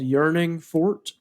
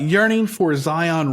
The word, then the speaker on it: Yearning For Zion: started moving to uh called yearning Fort is that how you pronounce it yearning for Zion Ranch yearning for Zion Ranch okay all right you've got it so wrong yes yes well that's